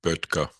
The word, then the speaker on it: Böttger: This is German words, so I asked my Austrian friend to pronounce the title and composer for us, and here's how he said it. Frühlingsgedicht by Adolf Böttger.